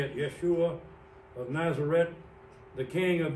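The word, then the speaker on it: ישוע: I know a little Hebrew, and I know that that letter right there is a SH sound, Yeshua.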